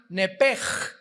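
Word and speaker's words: נפש: el nepesh, apúntalo ahí, el alma en el hebreo es nepesh, se pronuncia nepej, la CH en hebreo se pronuncia como J, nepesh, murió.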